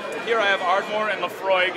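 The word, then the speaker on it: Laphroaig: enjoy your whiskey here I have ardore and Lefroy it's a little bit tough to spell out but uh that's how you pronounce it it's from the aisle of Isa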